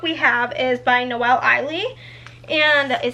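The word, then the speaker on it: Ihli: The next book we have is by Noelle Eiley, and that is how you say her name.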